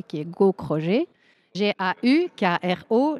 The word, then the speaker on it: Gaukroger: mon nom de famille beaucoup moins facile à prononcer qui est gauchroger j'ai eu Kro g e r donc voilà